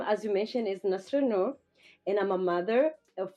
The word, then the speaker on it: Nasra Noor: lady on the line, I believe it's pronounced Nasra Noor, but if not, then I'm sure she's going to make it right. So I'd like to say good early afternoon to you, and how are you doing? Thank you so much for having me. You just said it right. Yes, it's Nasra Noor.